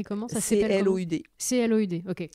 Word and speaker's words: Cloud: Ça C-L-O-U-D. C-L-O-U-D, ok. Cloud, comme en anglais.